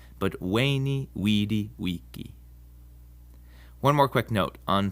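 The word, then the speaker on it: veni, vidi, vici: a bit of Latin the v in Latin is pronounced like a w sound so Caesar's famous saying isn't ven VI vichi but wayy Wei Wei one more quick note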